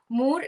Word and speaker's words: Moore: And do I pronounce correctly? It's Moore, or yeah, it's Moore, right? Yeah, It's without more. E. Yeah, Moore.